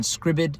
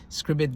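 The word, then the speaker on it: Scribd: If you read it online on scribbid s c r i bd that's what I pronounce it scribbid.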